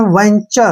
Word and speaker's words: venture: TU का उच्चारण हम यहाँ पे चे करेंगे। क्या करेंगे? चे, ठीक है ना, ध्यान रखना है, टी यू का उच्चारण चे करेंगे और आर ई को हम रे लिखेंगे।